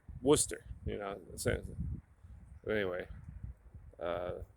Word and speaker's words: Worcester: different ways up here never pronounce the way it's spelled with new england towns and cities so you know uh like warcester they just call worcester you know but anyway